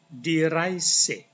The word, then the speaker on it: die Reise: So, contohnya itu misalnya di ini cara bacanya bagaimana? EI dibaca I. Die Reise.